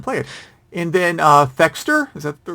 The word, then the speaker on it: Thexder: let's find him play it and then uh fexter is that the right way to pronounce it yes so the friend of his